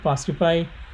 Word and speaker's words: fastify: This is spelled as FAST, fast, and IFY, fastify, and then create a